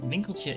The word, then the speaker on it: Winkeltje: on the channel uh bing culture is actually the dutch word word for the little shop so the game is very aptly named and winklej is how you pronounce that word in case you qualify